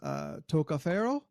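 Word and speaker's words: tocca ferro: They've got a phrase, toccaferro, which is knock on iron. Toccaferro. Toccaferro. It's probably a rolled R, but I can't roll my R, so.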